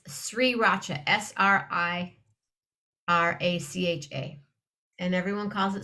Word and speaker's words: Sriracha: Read how the word is spelled, and it's or another one. Sriracha.